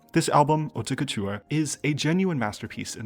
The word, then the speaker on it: Haute Couture: I want to start this video by saying that the title of this album is pronounced Haute Couture.